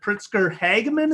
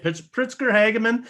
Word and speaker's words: Pritzker Hageman: He is the Chief Marketing Officer at Pritzker Hageman. Is that how you pronounce it? That's exactly right. All right, Pritzker Hageman.